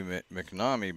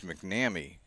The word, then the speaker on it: McNamee: Looks like it should be McNamee, but it's McNamee.